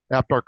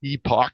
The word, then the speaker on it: Epoch: The one newspaper that I still do read and I subscribe to is called the Epoch Times, Epoch or Epoch, depending on how you want to say it, to learn how to spell it.